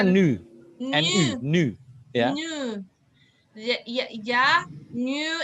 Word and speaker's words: nu: Bacanya nu.